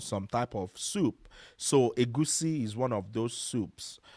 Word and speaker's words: egusi: Moving on, we also have egusi soup. So, egusi is spelled e g u s i.